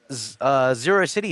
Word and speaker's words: Zerocity: Zero City is actually meant to be pronounced like ferocity, so Zerocity.